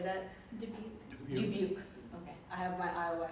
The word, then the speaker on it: Dubuque: Dubuque.